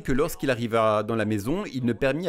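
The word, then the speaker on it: μή: Saviez-vous que le mot ne pleurez pas, c'est un mot grec, c'est le mot mais m e prononcé mais et cela signifie simplement non.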